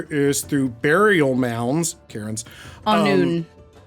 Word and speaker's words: Annwn: Anun is how it's pronounced. and- Sorry. On noon.